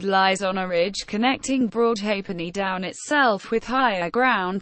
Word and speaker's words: Broadhalfpenny: The name, Broadhalfpenny, is properly pronounced Broadhalfpenny, a contraction following the usual pronunciation of the word for the halfpenny coin.